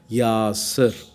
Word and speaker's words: יָצַר: Lexicon వివరాల అనుసారంగా Hebrew పదం అయినటువంటి ఇట్టి యాసర్ ఉచ్చారణ అనుసరణీయంగా యాసర్ అని ఉచ్చరించబడుతున్నది.